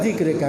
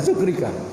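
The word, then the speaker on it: ذكرك: Allahumma inni ala zikrika, bukan zukrika.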